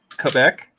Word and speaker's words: Quebec: sorry what that's how that's how they like it pronounced Quebec Quebec yeah Quebec yeah why